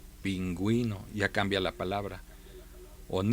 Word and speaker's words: pingüino: a críticos por ejemplo si leemos estas palabras con las reglas normales deberíamos leer ping ino y no pero cuando le añadimos un signo diacrítico sabemos que ahora la u este la podemos pronunciar pingüino ya cambia la palabra